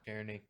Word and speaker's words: Czerny: How do you pronounce this? Henry. No clue. Czerny? Czerny? Yeah, that's what Wikipedia says. Yeah. Czerny.